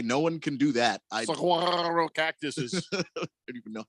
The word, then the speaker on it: Saguaro: I'm doing it that way because people are arguing with me on how to pronounce that. So officially, the Cactus is a Saguaro.